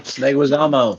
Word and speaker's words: Leguizamo: Leguizamo.